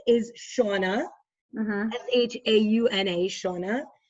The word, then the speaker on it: Shauna: the bar so her name is shauna s-h-a-u-n-a shawna nequest which is like i'll spell it for you n-i-e-q-i-s-t and um also another